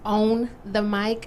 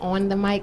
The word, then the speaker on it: Own the Mic: of the series is own the mic i know a lot of people probably mispronounce it and want to say on the mic it's own the mic so we basically want